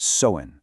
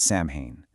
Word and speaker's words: Samhain: And by the way, it's pronounced Samhain, not Samhain.